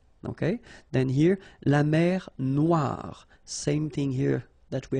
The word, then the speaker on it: noir: Then here, la mer Noire. Same thing here. That we had previously, final not pronounced, okay? And then OI, remember, wa wa wa, noir, noir. La mer Noire, okay?